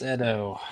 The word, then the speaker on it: Edo: got um a stage is it pronounced Edo town I I'm probably mangling that okay no technically it's Edo Edo town okay see I knew